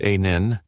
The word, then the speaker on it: Anneil: According to the rule, an Indian engineer calmly replied, "One, my name is Anneil, pronounced a nin.